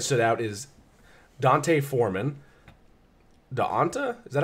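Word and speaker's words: D'Onta: Daonta? Is that how you pronounce that? D apostrophe O-N-T-A? Daonta? Yeah. Daonta.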